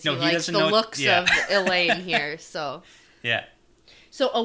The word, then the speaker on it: Elayne: And That's how I pronounce it, right? Yeah, Gawyn, yeah. And Elayne, right?